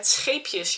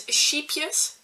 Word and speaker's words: Scheepjes: But people that are native English speakers pronounce it as sheepjes, which would be like little sheep, and it's so different.